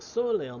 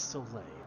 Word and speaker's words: Soleil: we'll find it the soil ale may have a lead on us but she's no Enterprise we'll catch it's Soleil I'm done I've been saying it wrong the whole of God